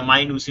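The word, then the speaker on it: minutiae: নিয়ে গন্ডগোল আর কি মেনিস বা মাইনুসি বলতে পারো এটা মাইনুসি উচ্চারণ ব্যালনি চিপার ট্রাইভেল ঠিক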